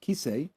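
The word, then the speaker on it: כסא: Why does kisei mean what I'm sitting on? Why doesn't it mean glass of buttermilk or mosquito? Because there's a living tradition of people who tell you Kaf Samach Aleph, pronounced kisei, means chair.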